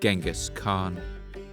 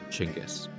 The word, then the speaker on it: Chinggis: choses, dans cet épisode, je prononcerai son nom Chinggis, comme on le dit en Mongolie aujourd'hui.